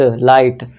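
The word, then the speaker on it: light: लेकिन जो इसमें जी एच है इसमें हमेशा है ना साइलेंट रहेगा। तो इसे क्या पढ़ेंगे? ला ईट। जी एच को भूल जाओ। तो इसे क्या पढ़ेंगे? ल ई ट लाइट फ ई ट फाइट अब आई आ रहा है।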